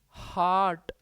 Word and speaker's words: hurt: HEART का pronunciation होता है हार्ट, जबकि HURT का प्रोनाउंसिएशन होता है हर्ट। ये हार्ट है, ये हर्ट है।